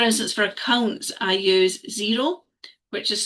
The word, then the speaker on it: Xero: So for instance, for accounts, I use Xero, which is spelled Xero, and basically it connects your bank